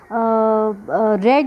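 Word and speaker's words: read: अब देखो इसमें रेड लिखा है, ये रीड नहीं है, इसको स्पेलिंग ये रीड ही है, बट ये रेड। जब पास्ट, रीड का जो पास्ट टेंस होता है ना, उसकी स्पेलिंग भी सेम होती है, बट उसको बोलने में उसकी प्रोनाउंसिएशन होती है रेड, ठीक है।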